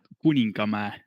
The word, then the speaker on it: Kuningamäe: By the spelling, which you might be able to see, it sounds about right. Yeah, it's pretty much as the spelling is.